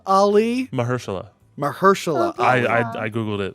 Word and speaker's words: Mahershala: right I get it wrong all the time mahershala Ali mahershala mahershala I I Googled it a couple times